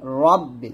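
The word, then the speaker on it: رب: ধরবে, বালাম জের বিল, রব্বিল, এখানে রাব্বিল বলা যাবে না, রব্বিল বলবেন।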